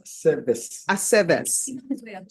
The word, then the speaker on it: Aceves: Aceves.